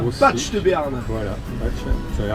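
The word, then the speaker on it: Baigts: B-A-I-G-T-S, donc tous les Parisiens disent Bec de Béarn, mais c'est Batch.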